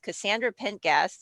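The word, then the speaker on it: Cassandra Pentaghast: i am engaged to a veterinarian who cosplays cassandra pentgas is how you pronounce it she's from dragon age as well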